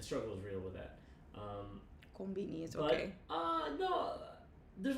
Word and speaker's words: konbini: We pronounce it konbini, but konvini is technically what it is.